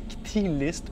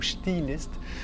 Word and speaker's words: Chthe'ilist: Donc, si on l'épelle, C-H-T-H-E apostrophe I-L-I-S-T, donc qu'on peut prononcer Ktilist ou Chtilist.